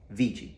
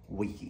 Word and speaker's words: vici: the Visa food on the C is pronounced CH because it's an Italian pronunciation so influenced by modern Italian but the ancient Romans said Wiki